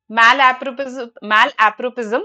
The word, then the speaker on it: malapropism: Malapropism, that's how it is pronounced.